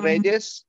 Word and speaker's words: Reyes: to pronounce it, because in Spanish, we pronounce like if we were Russian, maybe.